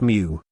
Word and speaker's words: Mo: Mo King Wu her surname is Mo pronounced something like Mew or her name King Wu